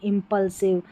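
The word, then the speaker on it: impulsive: तो इसको एस आई वी ई को साइव नहीं पढ़ेंगे। इंपल साइव नहीं ऐसी बड़ी स्पेलिंग में आई वी ई वाला पैटर्न इसको हम क्या पढ़ेंगे? इव पढ़ेंगे। आई वी ई को इव। तो आप ऐसे याद रख सकते हैं। इंपल्सिव।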